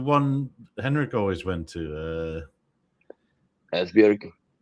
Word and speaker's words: Esbjerg: Esbjerg. Well, he pronounced it right. Yeah, he always said Espia. It's like, what? Esbjerg, how do you write okay. there? Like, B. apparently it's an accent thing.